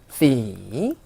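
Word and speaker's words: สี่: 숫자 4도 대표적으로 만약에 성조 표기가 이렇게 없어가지고 C 하고 4성으로 하시면 색깔이라는 뜻이 있어요. 색깔. 그러니까 내가 한글로 발음은 C라는 걸 아는데 태국 분들한테 얘기를 할 때 숫자 4를 말씀하시고 싶으면 C, 그리고 색깔을 말씀하시고 싶으면 C 하고 성조를 꼭 지키자는 거죠.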